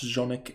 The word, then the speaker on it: Jonas: you said right mr jonas is pronounced jonic and yes meets me